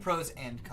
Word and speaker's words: Pros/Cons: Is that the correct way to say it? Pros and cons.